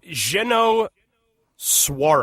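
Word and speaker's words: Jeannot Szwarc: That's a French ass name. It is a French ass name. It's Zeno Swarak.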